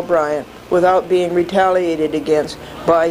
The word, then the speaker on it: Bryant: Bryant is not pronounced French style, Briand, although it should be. It rhymes with defiant and giant, a defiant and giant lawbreaker.